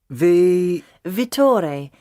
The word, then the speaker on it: Vittore: Vittore. He's Italian. You spell that V-I-T-T-O-R-E.